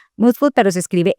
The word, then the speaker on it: Mood Food: Mood Food se pronuncia Mood Food, pero se escribe m O o D f O d, ¿cierto?